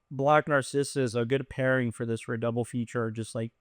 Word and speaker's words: Narcissus: Narcissist. No, it's not Narcissus. There's no T in there, first of all.